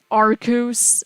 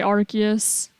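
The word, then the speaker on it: Arceus: I was a fan of someone who said arus I would still say archus I would stick by what I believe to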